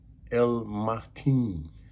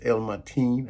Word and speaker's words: Al-Matin: about the attribute is it's called El Martine some will pronounce it different in Arabic they would say El Martin but it's El Martine I'm sure I'm right I believe I'm right in this in Arabic and it's